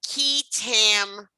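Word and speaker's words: qui tam: it's known as the key tam provision and you'll see it's q-u-i but it's pronounced key k-e-y that's what i put that there for you okay the key tan provision is also known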